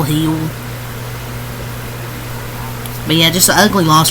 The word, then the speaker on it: Gil: with Lis Hill or har he say his name Gil heel but yeah just ugly